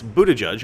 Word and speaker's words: Buttigieg: and it's totally not gay in all seriousness Buddha judge as BS is that pronunciation sounds is apparently a Maltese name from